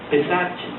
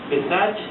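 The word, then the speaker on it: פסח: es Pascua la Pascua Es un término eh hebreo una palabra hebrea que quiere decir pasar de y se pronuncia pesach pesach es Pascua Sí y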